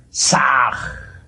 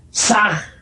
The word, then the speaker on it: Sah: Ham escribe con las letras H-A-M. Saj se escribe con las letras S-A-H. La H suena siempre como J.